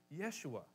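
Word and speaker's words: ישוע: it's not that unfamiliar in Hebrew it would have been Yeshua and it's two words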